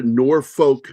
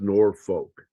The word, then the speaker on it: Norfolk: When you go to Norfolk, Virginia, it's not pronounced Norfolk there; it's pronounced Norfolk. And it's not even a Southern accent that's doing that.